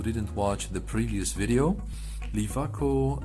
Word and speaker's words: LIWACO: watch the previous video lifaco is actually a German pronunciation it stands for the